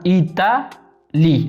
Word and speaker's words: Italie: Italie. La E no se pronuncia. Italie.